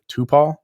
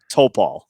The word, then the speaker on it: Toupal: so he is am i pronouncing your last name right tupal close oh topal topal oh i had the wrong emphasis on the wrong syllable so all right well